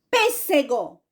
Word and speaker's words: pêssego: palavrinha que é proparoxítona deixa eu ver aqui pêssego pêssego Qual é a sílaba mais forte é o p né então